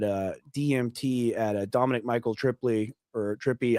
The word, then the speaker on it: Tripi: Uh, it's just like if you were talking about like a 70s hippie, just just add tr on the front of that. Trippy.